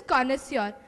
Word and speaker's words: connoisseur: First of all, it's pronounced as connoisseur and it means a person who has knowledge and appreciation for something.